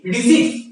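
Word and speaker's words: receipt: এরপরে যেটা আলোচনা করব, এরপরে যে কনসেপ্ট আলোচনা করব, এক্সপেন্ডিচার একটি অপোজিট কনসেপ্ট কি, রিসিপ্ট। কি বলে, রিসিপ্ট, রিসিপ্ট না রিসিপ্ট, আর ই সি ই আই পি টি এস, রিসিপ্ট, পিটা সাইলেন্ট, ঠিক আছে।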